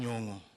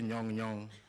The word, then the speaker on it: Nyong'o: Professor Anyang' Nyong'o. I remember when Conness first started talking about you, used to say Nyong Nyong. I think Conness could not pronounce.